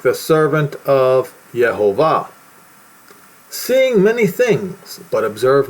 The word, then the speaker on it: Yhovah: name, not the Lord, but Yhovah, not with a J, though. You're not supposed to use the J sound with it. As you see right here, I'm showing to you to you the proper way to say it.